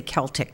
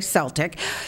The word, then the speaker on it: Celtic: to negotiate with florida i want to say celtic because that is the correct pronunciation but they say celtic soccer club for use